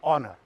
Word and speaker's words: honour: अब HONOUR ये है ऑनर, लिखते कैसे हैं? एच तो एच से हा होना चाहिए ना, तो ये हॉनर होना चाहिए, लेकिन बोलते हैं ऑनर।